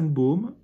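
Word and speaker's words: Baume: grand laavenau jusqu'à sa Baum qui existe toujours qui est s'écrit ba B a m il y a pas de c'est pas comme un Baum le sa Baum qui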